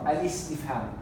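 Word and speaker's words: الاستفهام: Is or Al-istifham.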